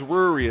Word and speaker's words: Ruri: What kind of last name is Ruri? It sounds like people forgot some consonants in there or something. Yeah, you don't want a last name that rhymes with furry.